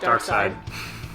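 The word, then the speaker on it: Darkseid: Dark side. Superman villain. It's spelled differently. Dark seed. Oh, it's still pronounced dark side, but it's s e i d.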